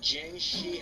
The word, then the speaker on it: Jiangshi: Which then is proven even more by other things like the Yangshi demons. Say what? Yangshi demon, I think? Jiangshi demon, sorry. Jiangshi. I keep saying it wrong.